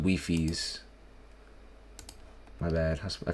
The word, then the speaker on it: Wifies: Oh, it's called It's pronounced Weiffies. My bad. I called him Wiffies.